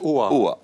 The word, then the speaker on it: OA: directeur de oa ABS ça on prononce oa oa et Ludovic le pape